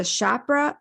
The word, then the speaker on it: Chopra: the healthiest version of themselves she is a chapra Chopra Chopra right how do I pronounce Chopra certified meditation teacher and a certified